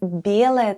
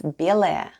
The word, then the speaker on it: белая: The first sound is b, then goes ye, l, a, and ya at the end. And all together it's белая.